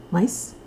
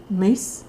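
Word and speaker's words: Myss: If you are familiar with the work of Caroline, I always mispronounce her last name. Mice. Mace. Mace. Caroline Mace. M yss.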